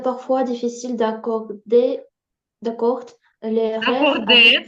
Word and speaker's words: accorder: Il est parfois difficile d'accorder les rêves Акорде, це правильно, тому що ЕР в нас читається як Е.